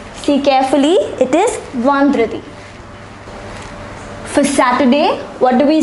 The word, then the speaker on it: vendredi: For Friday, we pronounce it as vendredi. See carefully, it is vendredi.